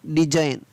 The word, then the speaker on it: design: DESIGN डिजाइन, और साइन के आगे लगा दिया DE, तो ये हो गया डिजाइन, साइन और डिजाइन।